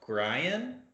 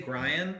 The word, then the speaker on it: Grian: vocalist uh i believe his first name is pronounced gryan i want to say grian it's like brian with a g instead of a b it could be green